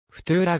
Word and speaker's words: Futura: とはラテン語で未来の違フトゥーラがラテン語や青黄色の発音に最も近くカタカナ表記には